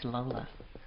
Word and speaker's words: Lola: Her name is Lola. What rhymes with cola?